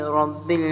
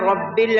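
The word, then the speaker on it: رَبِّ: The Ra in Rabbi is pronounced lightly because it follows a kasra.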